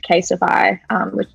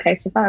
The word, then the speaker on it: CASETiFY: So last year, this tech business called Casetify, or I don't know, it's called Casetify or Cassetify. I don't know how you pronounce it, but I think it's like Testify. I think it's Casetify.